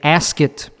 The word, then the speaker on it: Asket: it's called it's a ask it rhymes with basket brand t-shirt it was